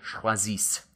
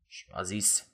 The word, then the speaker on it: choisissent: And then that last box, the third person plural, ils choisissent. Okay, so you drop the T and then add S-S-E-N-T, but don't pronounce the E-N-T, just choisissent, elles choisissent, ils choisissent.